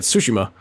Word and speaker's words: Tsushima: I guess they're pronouncing it Tsushima.